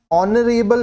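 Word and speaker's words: honorable: उसके पहले नरेल है लेकिन यहां पर एच जो है वो साइलेंट है ठीक है तो हम लोग क्या कर रहे हैं इसको नरे बल जो है starts with a silent H एंड अ वाल साउंड ठीक है इसलिए जब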